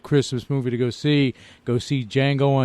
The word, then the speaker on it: Django: movie to go see Django Unchained, and that D is silent.